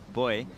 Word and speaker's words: buoy: it for Californians listening the black buoy out the back in Australia pronounce it boy uh that's where it